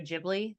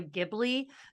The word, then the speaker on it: Ghibli: a lot of Studio Ghibli stuff oh I mean beautiful I always pronounced Studio Ghibli but turns out it's actually pronounced Ghibli and we watch like